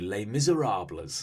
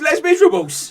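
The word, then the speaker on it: Les Misérables: wrote a book called lay miserable us and it was like the miserable and whose Les Miserables in it I think you'll find governor that is pronounced Les Miserables I think your point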